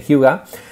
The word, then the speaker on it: hygge: Fijaros que si tuviéramos que traducir Hyuga, recordad, se escribe H-Y-G-G-E, pero en danés se dice Hyuga, evocaríamos conceptos como lo